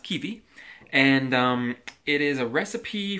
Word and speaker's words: Kiwi: It's Kiwi, but it's pronounced Kiwi.